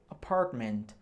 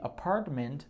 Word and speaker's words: apartment: Esse T quase você não vai pronunciar.